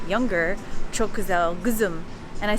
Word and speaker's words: çok güzel: asked him, I said, how do you say that's beautiful? And he was like, çok güzel, like that's beautiful.